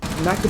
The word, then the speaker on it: knackered: Yeah, but knackered is spelled with a K at the start, isn't it? It's a silent K.